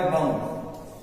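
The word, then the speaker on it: bomb: मतलब ये इसमें चुप था जैसे आपको गा बम अब बम है ना बी ओ एम बम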